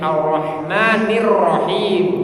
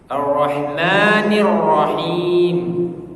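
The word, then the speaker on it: الرَّحْمَٰنِ الرَّحِيمِ: gitu Arah gitu ya Tapi ketika ro yang selanjutnya yang rahim itu tafkhim rnya tipis Nah kalau rnya tipis Justru r-nya itu terdengar gitu makanya n arrahmanirrahim gitu ya cara membacanya begitu arrahmanirrahim Jadi Jadi kalau ro tipis itu ee seperti huruf r lah kurang lebih gitu ya kenapa bisa tipis karena ada kasrah yang mendahuluinya oke kan arrahmani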